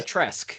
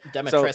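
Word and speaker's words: Dimitrescu: It's Can you Demetresk. So there's you Demetresk. don't pronounce the U, which is Okay. absurd. So Demetresk Lady Q sounds.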